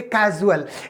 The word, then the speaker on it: casual: अब इसको हम क्या पढ़ेंगे, कॉजल पढ़ेंगे, और इसको बोलेंगे कैजुअल।